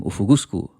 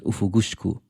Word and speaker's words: Ufugusku: colonized, assimilated version of the name Ufugusku, which some people also pronounce as Ufugushku.